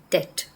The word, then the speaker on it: debt: So we can pronounce the word such as debt. doubt. In this word as well, the B is supposed to be silent.